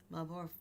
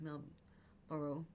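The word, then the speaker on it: Marlborough: But there's um it's Port Malbor I think it's pronounced Mel Boro New Zealand.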